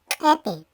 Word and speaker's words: ipi: Ejemplo, se escribe ipi, se pronuncia epi.